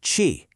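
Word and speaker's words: qi: You pronounce itq chi.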